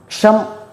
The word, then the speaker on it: ஷம்: இந்த மூல மந்திரத்தை சொல்றேன் இதை கேட்டுக்கங்க ஓம் ஷம் ஷேத்ர பாலாய நமஹஷ இந்த ஷங்கற உச்சரிப்பு கரெக்டா கொடுக்கணும் இக் பளஷ இக்ஷ ஓம் ஷம் ஷேத்ர பாலாய பாலாய கிடையாது பாலாய ஷேத்திர பாலாய நமஹ இதான் மூல மந்திரம்.